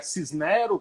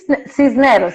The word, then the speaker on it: Cisneros: o teu nome corretamente, se é Cisnero, com esse E aberto, ou Cisneiros? Não, Cisneros, né? É um nome espanhol, né?